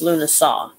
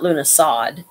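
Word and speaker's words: Lughnasadh: or something like that it's a weird spelling but it's actually pronounced Luna saw not Luna sod Luna saw it's um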